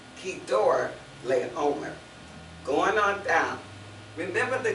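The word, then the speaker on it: Chedorlaomer: It's spelled C-H, but it's one of those words that sounds like a K. So it's Kedor Leomer.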